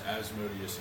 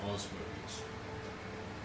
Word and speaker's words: Asmodeus: Oh, so there's Asmodeus and Osmodeus. No. No, they're the same. It's Yes. the same. I thought Osmodeus was No. this. It's spelled with an A. Yeah. An A. It's pronounced two different ways.